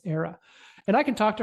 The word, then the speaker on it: Ara: I think it's actually Era. It's actually Era. It's not Ara. It's Era.